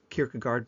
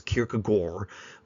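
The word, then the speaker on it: Kierkegaard: He was very much influenced by Kik Kirkagard. By the way, my old professor said the correct pronunciation is Kirkagore, but that just sounds so weird in English.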